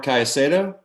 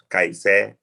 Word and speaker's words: Caicedo: And then when you have two C's in the same word, they both sounds like C, like Caicedo.